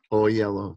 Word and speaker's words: Oyelowo: Oyelowo, thank you.